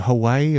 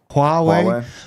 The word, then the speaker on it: Huawei: Is it Hawaii or Huawei? Huawei.